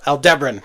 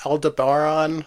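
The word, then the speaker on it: Aldebaran: Some people pronounce it Aldaron or something. I think that's probably just because in their brain they're hearing Alderon. Yeah, but Captain Bard pronounces it Al Debran. So that's how I'm going to pronounce it because the Enterprise goes there at some point.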